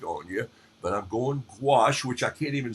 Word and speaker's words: gouache: I'm not going acrylic on you, but I'm going gouache, which I can't even spell it. It rhymes with squash, which I think it's sort of like painting with the insides of a pumpkin or squash.